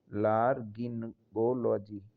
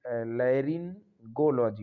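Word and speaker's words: laryngology: एल ओ जी वाई लार गिनोलॉजी ला लेरिन गोलजी होगा sorry सही उच्चारण होगा इसका लेरिन गोलजी एल ए आर वाई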